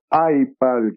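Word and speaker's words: iEyePal: Comme autre machine, tu vas nous présenter aussi le iPal, qui est bien important, qui s'écrit I-E-Y-E-P-A-L. Donc, comme un œil avec le mot pad.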